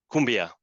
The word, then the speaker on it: Koombea: the inspiration for our Kumbia brand so we basically spell it differently to be able to uh pronounce it in the same way in English that is in Spanish